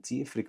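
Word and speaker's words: d'fhiafraigh: And one thing, do me a favor, never pronounce an FH in Irish. So that's why I'm going to go for the D apostrophe and straight into that letter I. Diafrig.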